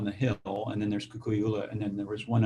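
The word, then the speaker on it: Kukuiʻula: I mean, I have to say, listening to you, your property you pronounce it Kukui'ula, or how do you pronounce it? Kukui'ula.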